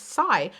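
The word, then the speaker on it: Pasay: breakthrough i realized that the s-s-a-y it's psy but a lot of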